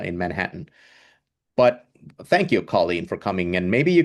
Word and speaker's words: Colleen: girl in Gaelic and pronounced like, you know, the the Irish way. It's Colleen, Colleen.